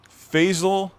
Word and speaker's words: Faisal: my name last week it rhymes with hazel faisal that sounds pretty